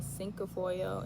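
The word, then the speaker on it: cinquefoil: And um yeah, then I'll also insert a picture of the sink foil. It's pronounced c i n q u e f o i l.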